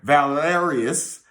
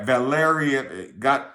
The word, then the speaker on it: Valerian: The ninth was under Valerius. Let me say it right. Valerian, look it up.